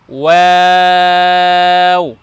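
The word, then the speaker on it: و: জি, তারপরের বর্ণ দেখুন, আমরা লিখেছি ওয়াও ওয়াও। দুইটা বর্ণ আমরা পেলাম এমন, যে দুই বর্ণকে উচ্চারণ করার সময় ঠোঁট গোল করতে হবে।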